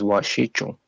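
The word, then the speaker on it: wašíču: And the pronunciation of that is, so the first part is like wash, Okay. W-A-S-H, so wash. So, but that C is a ch sound, so it's washichu.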